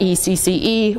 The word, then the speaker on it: ecce: We know at some point something like E-C-C-E was pronounced, came to be pronounced Ecce, because that's what it's how it's pronounced in Italian, but we don't know